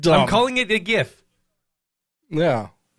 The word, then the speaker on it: GIF: from beyond the grave it's pronounced jif not gif shut the up uh yeah i'm never doing that yeah it's dumb he said it's pronounced jiff he said it i